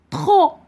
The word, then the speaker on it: trop: Le P muet, trop, ما قلتش trop, trop.